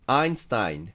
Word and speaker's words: Einstein: 有名なのはこの人の英語式の発音アインタインで EI が I になりますよね。